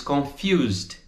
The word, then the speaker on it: confused: Veja a pronúncia do D no final da palavra. A gente não diz confused, né? Com aquele som D. É um som mais seco, pela metade.